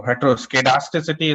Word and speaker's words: heteroskedasticity: Okay, if you okay, if you have the US English, so it will say not SCED, okay, but SKED. Okay, like schedule versus schedule. Okay, in the US English, you pronounce it as a schedule. Okay, in the British okay, accent, you are pronouncing as a schedule. Okay, so heteroskedasticity is pronounced in the US version. Okay, while in British one, okay, you have SCD. Okay, SCED. Okay, dasticity. Okay, that's a difference.